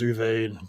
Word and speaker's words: Uwe: Probably German because his name's Uwe with a W, pronounced as like a V.